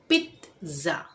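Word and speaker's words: pizza: ये पिज्जा नहीं है, यहाँ पे हम सही उच्चारण बोलते हैं पिज्जा।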